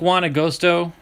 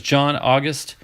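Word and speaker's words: Juan Agosto: it's been a while i think juana gosto i used to say his name is john august so he must have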